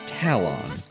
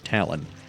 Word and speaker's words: Talon: found him for reference his name is Talon or Talon that's why I like to say Malon is because it Rhymes but eh take your